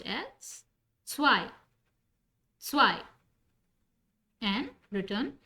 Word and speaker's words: zwei: 2 is pronounced as zwei.